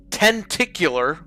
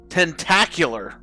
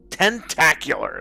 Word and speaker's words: Tentacular: city after the fall tenticular or tent tentacure tentacular tentacular that's how you say it that's the 11 games